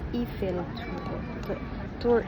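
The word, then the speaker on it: Tour Eiffel: iron lady I tower it is pronounced here in Paris as eel tour eil tour taya siya guys yan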